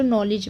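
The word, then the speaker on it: knowledge: अगर डी के बाद जी होता है ना तो डी हमारा साइलेंट होता है, जैसे कि आप नॉलेज में देख रहे हैं डी को नहीं पढ़ा जा रहा है।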